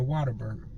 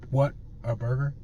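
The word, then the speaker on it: Whataburger: time what a burger it's like a wow what a burger what a burger not Water Burger I don't know where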